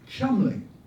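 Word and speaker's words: Cholmondeley: to remind everyone that his surname is spelled c h o l m o n d e l e y pronounced and the other was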